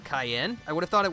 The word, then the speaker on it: Cyan: is more indicative that it's supposed to be pronounced like the pepper and not the color.